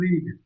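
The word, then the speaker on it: read: बात ये है कि इस तीनों का ना स्पेलिंग सेम है लेकिन इसको पढ़ा अलग-अलग जाता है। जैसे इसको पढ़ते हैं हम लोग रीड इसको पढ़ते हैं रेड।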